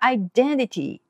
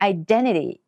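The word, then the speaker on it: identity: んですねで英語の場合は Idanity にあの日本語と同じような発音する場合もありますしこの N の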